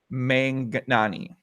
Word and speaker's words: Manghnaani: Is MANGH the first syllable, or is it MANG and then HNANI is the last one? I'm not really sure. I would wager the H is silent. Mangnani.